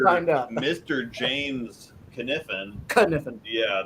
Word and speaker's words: Kniffen: James Kniffen, Kniffen. yeah, the K is silent, is actually considering moving to Kansas City because he likes the bowling.